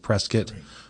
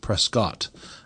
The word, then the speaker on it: Prescott: named Prescat, but also why we pronounce it Prescuit versus the very English Prescott.